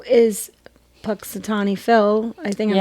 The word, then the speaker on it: Punxsutawney: And even in the States, we created the holiday Groundhog Day to say, is Punxsutawney Phil, I think I'm saying it right.